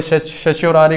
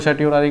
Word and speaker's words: certiorari: इसमें जो है इसकी प्रोनाउंसिएशन जो है कोई शशियोरारी करता है, कोई शटियोरारी करता है। ठीक है? मैं इसको शटियोरारी बोलता हूँ।